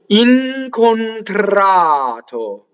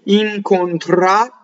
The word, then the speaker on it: incontrato: Notice that it's single T at the end, and it's a rolled R. Both of those ends are going to phonate. Incontrato. How do you do it wrong with the double T? Incontrato. So if I stop, then it's double T and it's incorrect.